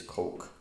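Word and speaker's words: caulk: also did something called call King c-a-l-k that's how you say it is Coke and the only bit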